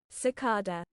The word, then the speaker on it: cicada: Yeah, either pronunciation is correct. It depends on your regional accent, is what it says.